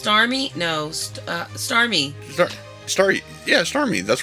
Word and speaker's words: Starmie: You said Star Ring. No. No, he said Starmie. You said Starmie. It Starmie. sounded like you said an R. No, give it to Starmie.